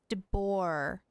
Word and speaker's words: de Boer: Meet me outside Hotel de Boer tomorrow, and then we'll start the next step of our plan. De Boer. There's no D.